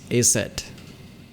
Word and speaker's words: Aset: Her name is hieroglyphs, which by convention would be pronounced Aset.